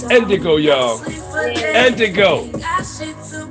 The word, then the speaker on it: Ndigo: Ndigo, that's Ndigo. It's spelled just like how it sounds.